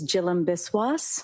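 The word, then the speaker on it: Jhilam Biswas: Yes, my name is Jill Biswis. My first name is spelled J H I L A M.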